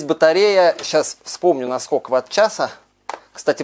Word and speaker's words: ватт-часа: Здесь батарея, сейчас вспомню, на сколько ватт-часа. Кстати, правильно говорить именно ватт-часа, а не ватт-часов. Многие говорят неправильно.